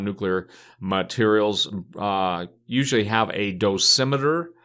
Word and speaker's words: dosimeter: materials usually have a dosimeter some people pronounce a dose meter it which is basically